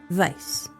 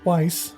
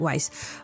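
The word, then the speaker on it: Weisz: I pronounced it correctly. Vice. No, it's Weiss. Nope. Looked it up. Vice. Okay. Okay. She's German, but she pronounces or I think everybody pronounces And everybody pronounces it wise, but um yeah, I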